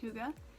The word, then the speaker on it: hygge: And then the last 2 books I have, one is The Little Book of Hygge. And yes, I did look that up. It is pronounced Hygge.